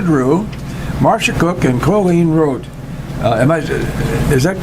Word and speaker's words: Roate: Our guests this morning are Lisa Drew, Marcia Cook, and Colleen Roate. Is that correct pronunciation That is of your correct, last name, yes.